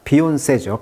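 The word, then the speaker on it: Beyoncé: 좋아요 부탁드리겠습니다 오늘은 뮤직 기사 한번 보도록 하겠습니다 비온 세죠 비온세 자 근데 재밌는 것은이 비온세 할 때이이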